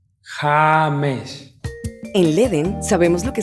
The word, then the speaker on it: James: Es James. James.